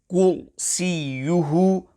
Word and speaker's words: كُرْسِيُّهُ: Kursīyuhu, ra sakina, is pronounced full mouth. Care must be taken to ensure that the ra sakina is pronounced sufficiently full mouth. Also, ya mushaddada must be pronounced gently and not harshly.